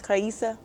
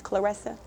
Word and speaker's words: Claressa: And they pronounce my name as Karisa. My name is Clarissa.